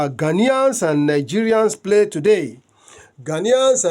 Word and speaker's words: Ghanaians: Ghanaians. Okay. It's not Ghanaians. It's Ghanaians. Okay. That's the correct pronunciation.